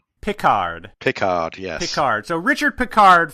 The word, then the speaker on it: Pickard: If you're from England, it's pronounced Pickard. Pickard. Pickard, yes.